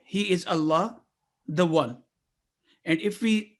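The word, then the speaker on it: الله: letter lam is a divine word for allah is always pronounced with thick or heavy sound if preceded with a letter carrying fatha or them and it is pronounced with light sound or thin sound if preceded with a letter kasra for example in bismillah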